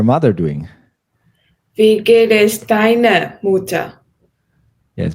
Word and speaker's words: deiner Mutter: Yes, make sure this R is kind of pronounced. I know you thought about it, but this R, German R is tricky, but this one you need to pronounce. Deiner Mutter. Or what you can also do is you make it slightly like letter A, deiner.